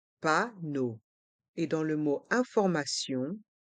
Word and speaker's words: panneau: d'information le panneau d'information les voyelles e a u dans le mot panneau se prononcent o comme la lettre O panneau et dans le mot